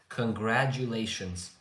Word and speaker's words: congratulations: Congratulations. The T you make it like a J sound.